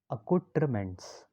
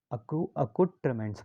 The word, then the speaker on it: accoutrements: इसको क्या पढ़ते हैं? अकुट्रमेंट्स। अकुट्रमेंट्स पढ़ते हैं।